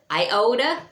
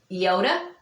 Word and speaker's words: iota: So after theta is your other vowel, your iota, sometimes mispronounced as iota. It is not iota. It makes it's pronounced like with a double E, so it's iota.